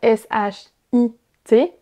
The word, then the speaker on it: shit: Lorsque vous voulez prononcer le mot sheet, S-H-E-E-T, il faut prononcer un I long. Sheet. A l'inverse, S-H-I-T, shit, c'est un I court.